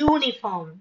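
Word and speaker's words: uniform: ஏ யூனிஃபார்ம். யூனிஃபார்ம், யூனிஃபார்முக்கு starting letter you, ஆனா அதை pronounce பண்ணும்போது கான்சனன்ட் சவுண்ட் வருது, யா சவுண்ட் வருது.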